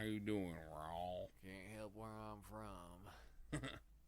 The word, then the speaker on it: Raul: Raul. That's Raul. how you say it. Raul. Raul. That makes way more sense. Yeah, otherwise it's just Paul with an R.